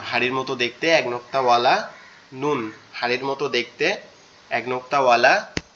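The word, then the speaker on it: ن: এরপরে যেটা সেটা হচ্ছে কি নুন, এরপরে যেটা সেটা হচ্ছে কি নুন।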